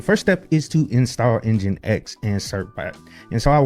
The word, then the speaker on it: nginx: So, we can go down there and install Engine X. And the command to do that is simply pseudo apps install NX. And it's spelled NG I NX.